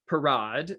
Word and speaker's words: Parade: place inside the building now why have i italicized perrod and why am i pronouncing it so pretentiously that's because i don't want you to get it confused with the english word parade meaning a public procession with floats and marching bands in french the word has another